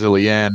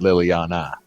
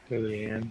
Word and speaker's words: Liliane: Her character's name is Liliane, not Liliana. Liliane.